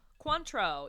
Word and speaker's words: Cointreau: of orange liqueur mm-hmm how do you say it Cointreau I think I never even that's how we're gonna say it Cointreau even though it's spelled coin treat Trio this is yeah that's